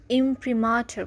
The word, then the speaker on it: imprimatur: মুদ্রণের দাপ্তরিক অনুমতি বা মুদ্রণাজ্ঞা কে আমরা ইংলিশে ইমপ্রিমাটার বলতে পারি এটি একটি নাউন স্পেলিং আই এম